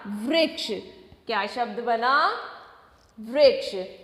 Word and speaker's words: वृक्ष: तो व री क्ष, क्या शब्द बन गया? वृक्ष।